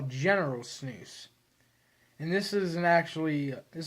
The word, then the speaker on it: snus: you'll know it is snus some of you are called snuffs but it's actually snooze s-n-o-o-s is kind of how it's pronounced spelled with a u and i think i